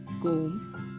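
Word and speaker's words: comb: एक सही होता है बी साइलेंट का होता है जब ब एम के बाद और टी से पहले आता है तब भी साइलेंट हो जाता है तो यह सारे वर्ड्स में आपको बी को ब करके प्रोनाउंस नहीं करना है यहां पर आप इन वर्ड्स को ऐसे पढ़ेंगे वम कोम प्लमर बोम डम थम टोम क्लाइम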